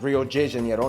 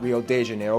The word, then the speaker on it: Rio de Janeiro: That's right, it's pronounced Rio de Janeiro, not Rio de Janeiro. Get it right, we're not in Mexico. This is Portuguese, not Spanish.